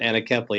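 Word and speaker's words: anencephaly: my first child from a condition called anacephaly or some pronounce it anakeplay it's a condition where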